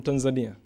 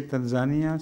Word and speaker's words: Tanzania: Islamabad no previously from Tanzania yes that's right I have one question some people say Tanzania some say Tanzania which is the correct pronunciation it is Tanzania Tanzania yes not Tanzania I think I have